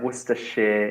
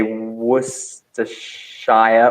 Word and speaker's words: Worcestershire: Shire, but if it's in a word, we don't say Shire. Worcestershire, Yorkshire.